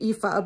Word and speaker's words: Aoife: Set in Ireland, which I'm, you know, very fond of, I only know how to pronounce the name Aoife because I graduated college with a young woman who named her daughter Aoife.